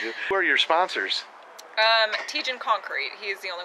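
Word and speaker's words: Tietjen: Tejan Concrete. Tejan, spell it for us. T-I-E-T-J-E-N, Tejan.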